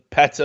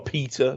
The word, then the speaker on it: PETA: I saw, PETA or PETA, depending how you say it.